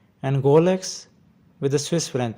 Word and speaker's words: Rolex: Some people say it wrong like Rolex, but the correct pronunciation is Rolex in American pronunciation and Rolex with a typical Swiss French pronunciation.